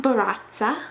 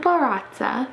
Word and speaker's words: Barraza: I found a woman named JUANA Barraza, and I know that you're supposed to roll your R's whenever you say her name.